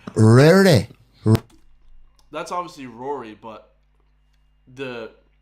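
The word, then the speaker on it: Ruaidhrí: you know at home r u a i d h r i okay yeah yeah yeah so they don't spell it like Rory um the next one t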